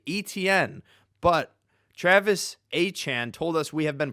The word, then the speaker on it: Achane: People want to pronounce Devon Achan, Devon Achane, but it's Achan, as well as the formerly Etienne is Travis Achan now.